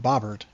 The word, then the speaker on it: Bobert: Runners at the corners with Bobert coming to the plate. Or as it's pronounced by them, Bobbert.